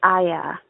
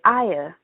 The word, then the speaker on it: Iyah: issue is the pronunciation my name is aya but people say aya and i've gotten that